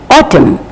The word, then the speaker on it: autumn: Another word here, A-U-T-U-M-M, autumn. So the pronunciation does not contain the N in the end, but we are stopping with M sound.